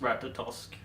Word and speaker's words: Ratatosk: W tree yes um in Swedish it's just ratatosk so I'm kind of using the Swedish pronunciations for the most part um shle says could